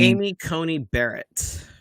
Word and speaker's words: Amy Coney Barrett: um how do you say her name amy amy coney barrett yeah it sounds like a cheap car anyway